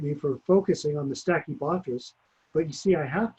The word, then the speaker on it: Stachybotrys: in the lakes and making the molds grow, Stachyboris or whatever, other molds. I always say it wrong. What's wrong with me, man? What is it? Stinky butt ass? Stachybotrys.